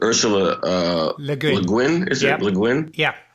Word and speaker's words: Le Guin: writer, and you may have to fix my pronunciation here, but Ursula Le Guin, is it Le Guin? Yeah. Le Guin.